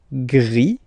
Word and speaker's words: gris: Then final e, sorry, final S here is not pronounced, so it goes like gris, gris, gris, okay?